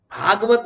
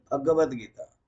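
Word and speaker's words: भगवद्गीता: उपनिषद, योग दर्शन, योग वशिष्ठ, और भागवत नहीं, भगवत गीता। भागवत अलग होता है, उच्चारण ठीक से रखना।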